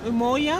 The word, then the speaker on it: Umoja: avez-vous choisi le nom UMOJA? UMOJA (prononcez U-MO-YA) est un mot en Swahili qui signifie UNITÉ Mais nous avons transformé dans une version Latino et prononcons UMO'JA" parce que nous sommes a New York (rires) Comment peut-on vous contacter?